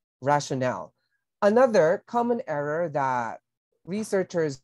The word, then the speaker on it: rationale: have rationale B and be careful with the pronunciation that's rationale not really rational rationale another common error that